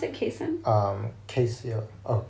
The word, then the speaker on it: casein: But I mean, if we just think about the casein, is that how you pronounce it? Casein? Casein. Oh, casein.